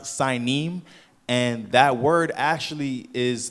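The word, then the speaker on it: Sinim: my brother said that's actually I mean it's pronounced signim and that word actually is the country uh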